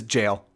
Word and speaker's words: gaol: Yeah, Mark says Gaol is jail. It's just jail. It's don't really... Okay, it's just jail. It's just an old-timey way of spelling it.